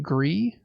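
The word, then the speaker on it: Gris: game from the team that made I think gree is how it's pronounced and it's a 2d kind of artsy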